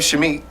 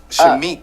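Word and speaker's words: Shameik: Shamik. Shamik.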